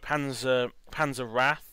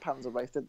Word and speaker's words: Panzer Wraith: Yeah, I still don't know if it's pronounced Wrath or Wraith, but yeah. I think it's Wraith. Wraith. They said Panzer Wraith. No. The dude announcing it said Panzer Wrath, but everyone else says Panzer Wraith. So I call it Wraith.